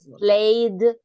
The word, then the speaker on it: played: player play played baseball played correct because it's e we use the D pronunciation at the end played played the baseball